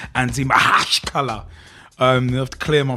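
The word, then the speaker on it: Anzhi Makhachkala: I mean, look at Anzi Makalaka Chikalaka Makalaka Lala, or if you want the proper pronunciation, Anzi Mahashkala.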